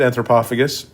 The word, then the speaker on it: Antropophagus: the docket which is anthropophagus that's how you pronounce it anthropophagus and um it's 1980e but well it doesn't